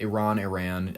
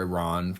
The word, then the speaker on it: Iran: However you want to pronounce it. Iran, I've heard it both ways. I prefer Iran just because, I don't know, it comes out easier. It's just easier for me to pronounce.